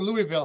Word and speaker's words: Louisville: is it louisville or louisville how do you say it louisville you have to say it like you have marshmallows in your mouth oh this conversation with